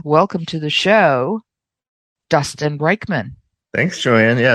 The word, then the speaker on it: Reichmann: to the show Dustin reichmann thanks Joanne yeah it's close enough and you you definitely use the most common pronunciation we uh we go by the German pronunciation which is actually Rickman but close enough and